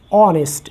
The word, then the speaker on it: honest: rot right like this this is basically the sound of Oh honest as we say honest he is an honest person so we will write